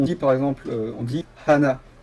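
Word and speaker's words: 花: par exemple on dit Hana en prononçant le h faut le prononcer pour faire Hana ça veut dire fleur et si tu dis sans prononcer le H Ana ça veut dire cou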